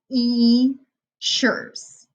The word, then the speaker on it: features: Sometimes there's an E and an A together. It makes a long E sound. So it sounds like features, text features.